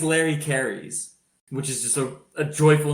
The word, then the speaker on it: Kehres: Larry Carries, which is the correct way to pronounce his name in this podcast, won 11 D3 titles from 93 to 2012.